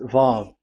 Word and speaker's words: Vav: So it's V as in Vogue. So it's really V. How to read Vogue? So the word, the shape Vav is really pronounced V, like Vogue. That is it, pronunciation. So here in this side, it's pronunciation. This is pronunciation. So according to the old Hebrew word today, those who, the owner of the words, I mean, so it's a V. So don't change it into W.